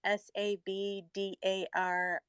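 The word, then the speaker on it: sabdariffa: I just wanted to speak on the hibiscus tea is typically from it's I'm gonna try to pronounce this Sabdarifa. It's Sabdarifa.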